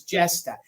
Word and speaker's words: Jesta: It's spelled Jesta. So it's Jesta.